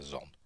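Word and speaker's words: Xon: think it what Commander I think it Commander zon XO n that's how it pronounced zon uh A peculiar name for a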